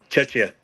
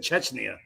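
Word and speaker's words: Czechia: How's it pronounced, sir? Chetchia. Chetcha. Chetchia. I put an N in there. I'm sorry. I said Chetchna.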